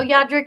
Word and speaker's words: Yadrick: yeah Drake yeah Drake yandrick or Olivier the third bananas okay no yadrick is right we just said it right wrong the first time let's go visit my